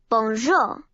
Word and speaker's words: bonjour: this bell Bonjour hello in French you say it like this Bonjour gorgeous beautiful